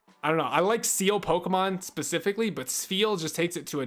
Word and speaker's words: Spheal: seal Pokemon specifically but spheal just takes it to a new level his name is hard to pronounce steel it's like an F feel as opposed to just